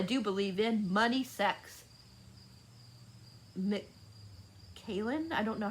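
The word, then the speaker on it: Macallan: advance what i do believe in money sex mckaylan i don't know how that's how you say her name it's m-a-c-a-l-l-a-n that's what the girl's name is 18.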